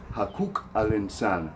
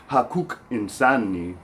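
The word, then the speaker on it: حقوق الإنسان: To say human rights in Arabic, rights is a little bit tricky to pronounce because we have to use that qaf letter. So it's hakuk al-insan, hakuk al-insan, the rights of humans.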